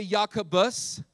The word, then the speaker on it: Jacobus: it was translated into Latin Jacobus underwent a pronunciation change it went from Jacobus say yakubus to yakamus all right a chain a pronunciation